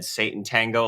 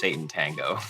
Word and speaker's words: Sátántangó: So when we pronounce the title for this movie, Oh, I've always just said Sátántangó, like it looks, he does this every time.